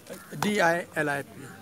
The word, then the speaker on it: Dilip: That's how you pronounce it? DILIP.